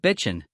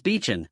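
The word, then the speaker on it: 避尘: However, please do not pronounce it like Bitchin. The correct pronunciation is Beechin, with the N sounding like the N in enough.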